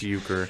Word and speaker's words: Uecker: It's Uecker.